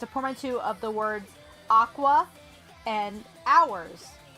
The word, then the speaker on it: Aqours: it was, it's a portmanteau of the words aqua and hours, right? So, Aqua. And Chica pronounces it AQ hours, the way it's spelled.